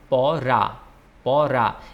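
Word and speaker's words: পড়া: it's called doi binduro it's p or paw in bangla then it's r and it's a porra this r is a bit stronger there's another art that's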